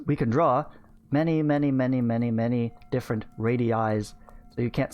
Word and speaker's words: radii: Plural radii. So you pronounce both of those I's in two different ways.